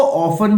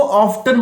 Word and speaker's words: often: अच्छा, कुछ लोग इसको ऑफन बोलते हैं, कुछ लोग इसको ऑफ्टन बोलते हैं। दोनों ही उच्चारण बिल्कुल ठीक है।